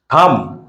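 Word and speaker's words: thumb: কম কাম না কম বি এর উচ্চারণটা হবে না কম থাম থাম মানে বৃদ্ধাঙ্গুলি আর কম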